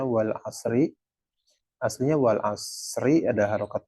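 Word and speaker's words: والعصر: Tapi kalau disukun kita wakof ya, bukan disukun, di wakof, ketika bacanya diberhentikan di kata tersebut, maka kita nggak bacanya wal asri, yang diajarin wal asr gitu kan.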